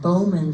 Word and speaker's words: Bauman: The Bauman, or sometimes pronounced Bowman Farm, was on Ladder Road, about 105 acres.